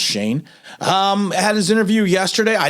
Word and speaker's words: Schoen: even though it's pronounced Schoen in regular language, but I think that's in German. It's pronounced Shane.